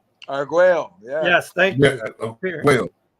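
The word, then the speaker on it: Argüello: What movie in 1988 did former world champion Alexis Aguero, got tongue-tied there, Alexis Aguero appear in?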